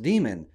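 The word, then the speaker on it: daemon: demon it's d-a-e-m-o-n but we just heard in the clip that it's pronounced demon one might look at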